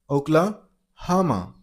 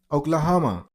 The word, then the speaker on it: Oklahoma: Oklahoma is not ho. It's uh and that's the stress syllable is a stress there. Oklahoma. Oklahoma.